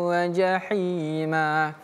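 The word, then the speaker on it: جَحِيمًا: Anka bukan anka tapi anka inna ladaina anka anka wa jahima sat dua t inna ladaina ank wa jahima lau wa jahima perhatikan Jahi di sini menggunakan huruf ha tipis ya atau ha kecil.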